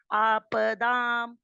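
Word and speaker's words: आपदाम्: आपदाम को भी आपदाम करेंगे तो आपदाम में प बहुत हल्का पड़ गया, वो आधा मान सकते हो। उसे पूरा पढ़ेंगे तो आपदाम हरते, आपदाम पूरा बोलना है बिल्कुल शब्द। क्योंकि दा नहीं बोलेंगे तो हम इसको बोलेंगे आप नहीं बोलेंगे कि आप हल्का सा मार दिया, आप बोलेंगे, मुंह खोल के बोलेंगे। आप दाम, दा पर भी आ की मात्रा है और माँ भी स्पष्ट होना चाहिए।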